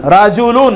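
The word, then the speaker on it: رِجْلٌ: একই বানান, শুধুমাত্র কি উচ্চারণ ভিন্ন। রায়ের উপর জবর, রায়ের নিচে জের।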